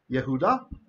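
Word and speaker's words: יהודה: So what happens is the word Judah, Yehuda, the yod has lost its value as a consonant, and he's part of the vowel.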